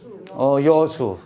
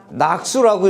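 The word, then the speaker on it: 樂水: 여수. 그러니까 지금 많이 배우신 거야. 이걸 낙수라고 이렇게 읽으면 안 돼요.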